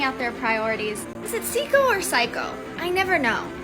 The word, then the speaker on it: Seiko: We talk about the Seiko modding community, but are they psycho? I mean, maybe some of us are a little psycho that like Seiko, but it's pronounced Seiko though.